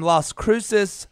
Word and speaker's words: Las Cruces: outs i think they flew they were from las cruces new mexico so i've got some new mexican